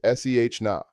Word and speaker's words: cena: Dinner is cena, pronounced se na.